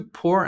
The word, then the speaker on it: pour: During therapy, she felt safe enough to pour out her feelings. The pronunciation for the verb pour is the same as the opposite of rich. A rich person, a poor person.